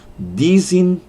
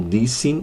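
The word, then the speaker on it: δυσίν: Há quem pronuncie dizin ou dissin, martissin ou martissin, ok? Vamos lá, lembrando que pronúncia grega é sempre um problema, é sempre uma dificuldade, mas então dousin ou dissin, da ideia de duas, e aí martusin ou martissin, como alguns pronunciam, da ideia de testemunhas.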